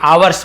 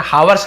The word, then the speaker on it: hours: When 2 hours pass, जब 2 घंटे, आवर्स बोलेंगे ना, हावर्स नहीं बोलेंगे, ऐसा साइलेंट होता आवर्स, बहुत सारे आर्स भी बोलते हैं, आर्स आवर्स दोनों बोल सकते हैं, लेकिन हावर्स नहीं बोलना, एस साइलेंट होता है।